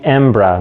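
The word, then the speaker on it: hembra: drum called the macho the large drum called the M bruh that's spelled H E and B ra and yes that means male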